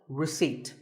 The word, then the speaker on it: receipt: don't pronounce as in word number 24 receipt the P is silent when you purchase something